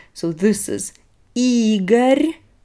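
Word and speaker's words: Игорь: names so this is eager e is stressed this is the name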